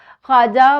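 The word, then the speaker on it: خواجہ: ख्वाजा में भी वाव की आवाज़ खामोश है क्योंकि ख्वाजा बोला जाता है, वाव पढ़ा नहीं जाता।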